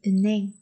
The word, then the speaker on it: 은행: Lưu ý phát âm ở đây là gì các bạn còn nhớ không các bạn? Đó là 은행, 은 và 행, nhưng thông thường sẽ được biến âm thành 은행, 은행. Tức là here today chúng ta sẽ coi như là âm câm luôn và nối cái phát âm 은 này lên để đọc thành 은행, 은행, 은행입니다.